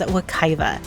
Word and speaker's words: Wekiwa: Even though you may see Wakiva spelled with either a V or W, everyone pronounces it as Wakiva, regardless of the spelling.